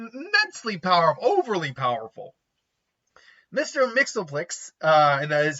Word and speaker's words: Mxyzptlk: yeah it's still immensely powerful overly powerful Mr mixoplex uh and that is how it's pronounced is a fifth dimensional imp from The